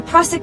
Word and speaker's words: Prusik: The Prusik knot, pronounced Prusik, is a real climbing friction hitch.